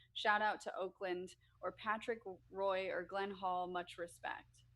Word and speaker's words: Roy: to Oakland or Patrick Roy or Glenn Hall much respect Steve I do not follow you for this Patrick wah is the name of a hockey player it's spelled Roy so I don't follow